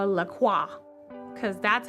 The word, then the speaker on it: LaCroix: It's pronounced LaCroix. It's French. Is it? I'm gonna call it LaCroix because that's how I want to pronounce it.